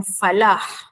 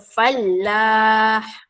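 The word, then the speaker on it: فلاح: Ejaannya ialah falah. Tetapi kalau awak menyebut dengan salah, contoh fallah nampak double L. Okey. Falah kejayaan. Hayya alal falah. Manakala fallah ini maksudnya ialah petani, peladang lelaki. Ha nampak?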